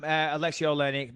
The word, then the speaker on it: Alexei Oleinik: Mark Hunt and Alexei Oleinik. Is that how you say it? Yeah, that's right. Alexei Oleinik.